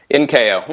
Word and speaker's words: Incao: Am I pronouncing that right, Quentin? Incao. Yeah, Incao, that's good.